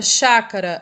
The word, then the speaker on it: chácara: a gente tem que a sílaba mais forte aquela que é pronunciada com mais intensidade de maneira mais demorada é o chá então o chá vai ser a sílaba tônica e o cá e